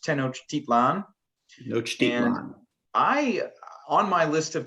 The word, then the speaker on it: Tenochtitlan: I think I've always heard the name of the city pronounced Tenochtitlan. Tenochtitlan.